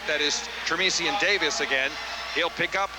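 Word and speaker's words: Tramission: SS i o n tresan is how it's pronounced but that's not how Don sha says it he said he calls him transmission he does first and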